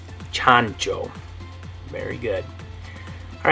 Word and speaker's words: chancho: chancho or something like that anyway in Spanish chancho and what this means in English is pig